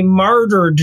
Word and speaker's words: martyr: they're going to be martyred now for the Jewish faith. And that's actually a really good thing. And Drake is going, martyr, martyr rhymes with tartar.